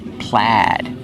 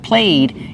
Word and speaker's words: plaid: We use a short a sound like black cat. Plaid. So, the spelling does not match the pronunciation. Remember, use the short a sound, not played. It's pronounced plaid.